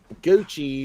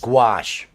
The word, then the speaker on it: gouache: That Gucci or Gouche or whatever it is. Gouache.